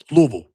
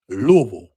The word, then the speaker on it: Louisville: Louisville. Got to say gota say it right. Louisville.